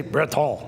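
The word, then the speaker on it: Bretagne: This is Brittany, or as she would say, Breton. In America, we see, you know, the coast of Brittany, the English Channel on the coast of Brittany. Well, yeah, but the locals say Breton.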